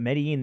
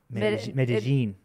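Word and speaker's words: Medellín: But Medellin, it's like the L's become like Z's almost. It's like Medellin.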